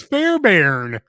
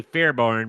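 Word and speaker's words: Fairbairn: pronounced yes it is it's notar it's it's fair Baron that's that's the way it's pronounced because it looks like it would be fairb barn but it's pronounced Fair Baron right Fair be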